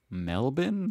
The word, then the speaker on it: Melbourne: for mispronouncing these cities oh you don't pronounce the r melbourne we call melvin melbourne